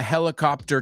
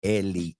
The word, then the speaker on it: helicopter: Remember, se pronuncia en inglés esa H, helicopter, no es heli, right? La H no es muda.